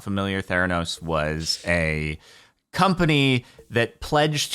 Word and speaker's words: Theranos: Today, we focus on Theranos, which I know when I first heard it, I started pronouncing it Theranos.